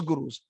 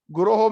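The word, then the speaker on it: गुरोः: I offer my obeisances unto all those gurus. Guroho means it's plural. It is not guru. Sometimes we mispronounce when we are singing the Manga Vande Guru Sri Charnar. No, it is Guroho.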